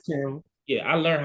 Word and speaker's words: Canva: Is that how I pronounce? Yeah, yes, sir, it's Canva.